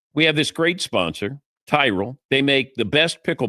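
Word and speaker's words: Tyrol: It's Tyrell Pickleball Shoes. You spell it T Y R O L. Tyrell Pickleball Shoes.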